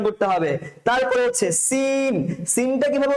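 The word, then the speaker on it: سين: আওয়াজের মতন করে উচ্চারণ করতে হবে তারপরে হচ্ছে সিন সিনটা কিভাবে উচ্চারণ করবো স্যার আমরা টায়ার পাঞ্চের মতন করে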